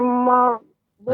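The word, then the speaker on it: المغضوب: Nggak boleh dipantulkan, Nek. Dia nggak memantul. Au. Ghairil maghdubi Nah, gitu.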